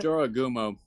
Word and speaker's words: Jorogumo: By the way, it's Uh, Jorogumo. Jurigame, If you're not gonna call it, if you're